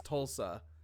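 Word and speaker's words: Thulsa: LS a yeah to I think it's Tulsa H is silent I believe so okay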